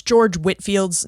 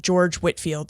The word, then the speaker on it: George Whitefield: But as Jessica pointed out to me, he pronounced his name George Whitfield. So please forgive my mispronunciation. I did try to correct that, but his name is pronounced George Whitfield, but spelled Whitefield.